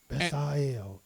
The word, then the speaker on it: Bezalel: That's how you pronounce that. Bezalel.